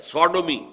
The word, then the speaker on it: Sodom: منسوب کیا گیا ہے، سوڈومی، سودوم۔ سودوم وہ شہر تھا، صدوم جس کو ہم کہتے ہیں، سوڈوم، SODOM، یہ بائبل میں اس کا تلفظ ہے، تو